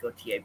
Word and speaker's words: Gaultier: It's actually pronounced Gaultier, but yeah, Veronica knows.